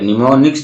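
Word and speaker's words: mnemonics: अब आपको जो है ये आपका दूसरा, ये एम साइलेंट होता है। तो निमोनियस क्या होता है, तो निमोनिक्स में क्या देखेंगे कि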